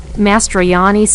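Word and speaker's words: Mastrogiannis: I have a few comments, and first of all, Alex Mastroiannis in Greek, the G is a Y sound, so if you just think of it like a Y, you can pronounce it better, but a little Greek lesson.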